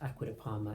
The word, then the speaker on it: Acqua di Parma: is called mandorla necesita you have to say the proper Italian way because this is an amazing Italian fragrance house aquata Parma and we have to give it in its respect and pronounced in the proper way I love I could